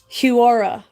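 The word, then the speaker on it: Huaura: how to pronounce it I was saying it's not Horan it's h-u-a -u-r-a so huara province 48 is 45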